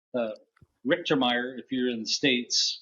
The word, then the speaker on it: Richtermeyer: inviting me um my name is is actually pronounced uh richtermeyer if you're in the states uh Ricker like